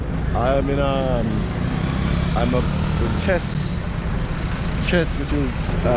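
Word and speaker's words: Thiès: I'm in I'm up in Chess, which is spelled T-H-E-I-S.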